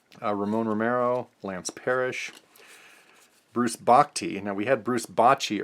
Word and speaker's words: Bochy: Some people mispronounce that as Bochy, confusing him with the other Bruce Bochy, but this is Bruce Bochy.